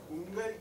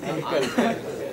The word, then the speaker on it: uncle: He says, "Is ungal kempa angal?" What should it be? Uncle.